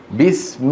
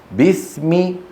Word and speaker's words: بسم: بسم الله الرحمن الرحيم. بسم، ولا تقل بس. بس هذه كسرة ناقصة.